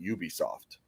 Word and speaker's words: Ubisoft: I don't get it because it should be pronounced Ubisoft um I mean it's not a huge deal